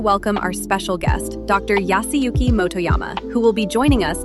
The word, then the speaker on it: Yasuyuki Motoyama: Yasuyuki Motoyama. Please correct me if I'm not pronouncing this correctly.